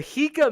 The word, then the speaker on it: Jika: The Hika Man says, I'm disappointed in both James and Vaush. The J is pronounced like an H. Ever heard of the Spanish J?